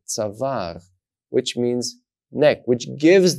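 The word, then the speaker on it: צוואר: Now, because there's an Aleph here, I know that I'm supposed to pronounce the sound A in the middle of this word, tzavar, which means neck, which gives the word the meaning neck.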